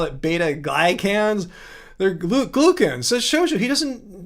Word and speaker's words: glucan: He did say glucan once. Glue.